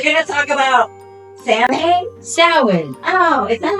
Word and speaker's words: Samhain: Samhain. Oh, is that how you say it? That's how you say it. Listen, we can mock because we said it wrong for years. Samhain.